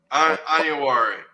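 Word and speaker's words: Onyenwere: Iyenware.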